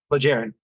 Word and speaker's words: Plejaren: The By the way, how do you say this? Plagiarin or Plaharin? Plagiarin. Plagiarin, okay.